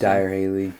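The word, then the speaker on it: Dyrhólaey: We did exploring around Vic today, and so we saw Dyro Haley, I believe it's pronounced. Dyer Haley.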